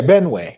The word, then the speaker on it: Benue: Can you show where along that river, that Benway? This is the. Is that, did I say it right? Yeah, Benway.